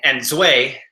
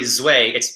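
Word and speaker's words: 醉: So it's in Mandarin we say Zui, and Zui. It's not really Zui. It's more of a sharper like a Zui, and that means drunk.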